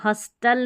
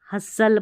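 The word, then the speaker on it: hustle: अब इसको हस्टल नहीं, हसल पढ़ना है।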